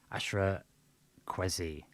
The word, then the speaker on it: Ashra Kwesi: what this guy um ashra kwesi that's it that's a bit like pronounced a bit like tweezy it's interesting nms side